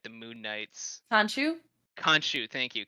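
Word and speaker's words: Khonshu: just don't believe the uh i'm never gonna pronounce his name right the moon knights sancho conshu thank you kanshu we don't believe kanchu because we just don't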